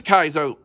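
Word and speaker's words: 海賊: i'm now confused on which is the proper japanese pronunciation for pirate it is kaizo it is kaizo kaito means thief so yeah so let's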